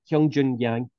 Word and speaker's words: Yang Hyun-jun: Heroku one and hyungjoon hyung Joon yang I think I got that right anyway so it's a little different because it's they pronounced their last name first so be yangtion oh